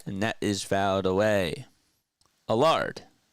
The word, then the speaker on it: Allard: that is fouled away alard alard yeah a a like a and then lard it's like um what's his name Lazard that's like what it rhymes with uh Lazard uh Alan